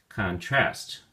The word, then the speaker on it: contrast: we say contrast contrast if you use it as a verb then the emphasis or stress is on the second syllable trust contrast contrast let's take a